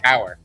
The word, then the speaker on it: Heuer: wear tag heuer cure hoyer i want to say it's hoyer in proper german pronunciation i believe americans say hauer but it's foyer any